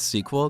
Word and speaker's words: SQL: generally speaking people in non-english speaking countries call it SQL are used to calling it sequel because it's shorter and sweeter than SQL but if you prefer to call it SQL that's totally fine with me I'm not gonna get